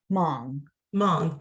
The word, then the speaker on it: Hmong: For instance, and tell me if I'm mispronouncing this, Hmong? Hmong, thank you.